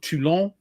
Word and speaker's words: Toulon: The Battle of Toulon causes several Royal Navy. Ooh, you pronounced it right.